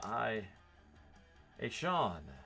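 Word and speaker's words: Etienne: lawrences in there ecn also known as uh i a sean as it says on pronunciations all right nico collins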